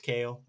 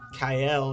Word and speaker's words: Cael: Yeah, it's spelled Cael, but it's pronounced Kale. It's okay. I was calling him, bless me, Kyle or something when we first met.